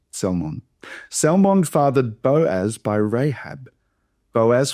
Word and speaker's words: Salmon: Naron fathered Salmon. So you pronounce the you pronounce the Lmon. It's not like that fish or e salmon.